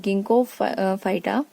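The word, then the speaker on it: Ginkgophyta: Then about the गिंको फाइटा, ji silent है यहाँ पे फर्स्ट में, गिंको फाइटा।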